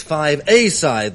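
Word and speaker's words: Five-A-Side: thank you very much it may seem like five aside but the accent is on the a it's 5 a side then and a group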